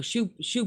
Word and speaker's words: choux: No, choux bun. Oh. It's a big, thick, round bun. Show pastry. That's it. No, yeah, choux. That's how it's pronounced. Choux.